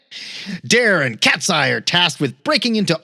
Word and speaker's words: Cat'Sai: And an Elektra Catwoman mashup named Cat'Sai, but that's an S-A-I, get it? Because she has size. Like cat, Sai.